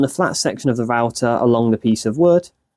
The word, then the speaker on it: router: The way I'm going to cut this out is using something called a router, and it is pronounced router.